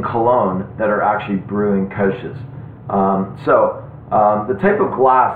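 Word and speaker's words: Kölsch: that particular area and kolsch the proper way to pronounce it is coach so you actually have to um take it to an o e kind of sound together but i'm i'm perfectly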